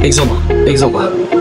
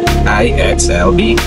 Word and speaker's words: IXLB: So I thought it's like IXLB. But no, she said, just say it as it is. IXLB.